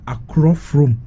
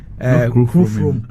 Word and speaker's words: Akrofrom: So it's rather Akrofrom, not Krofrom.